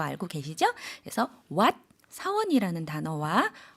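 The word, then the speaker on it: หวัด: 그래서 사원 발음할 때는 삼성으로 what 이라고 올려주었다면 감기의 경우에는 일성으로 밑으로 내리는 형태로 발음해 주시면 되겠습니다. 그래서 발음이 what. 예, 태국어는 성조 언어이기 때문에 성조에 따라서 뜻이 달라지는 거 알고 계시죠? 그래서 what, 사원이라는 단어와 what, 감기라는 단어 성조 구분해 주시고요.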